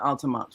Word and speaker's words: Altamont: Yeah, we pronounce it Altamont, Florida.